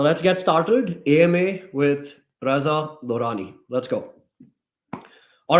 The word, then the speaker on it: Reza: That's how you pronounce my name, not, Rani, Riza, Riza. I've heard everything about my name, but my name is pronounced as Reza.